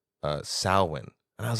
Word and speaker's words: Samhain: the characters says uh sawin and I was like I heard that before all Hall's Eve but then when I researched it even though it's it's pronounced sawin it it's spelled out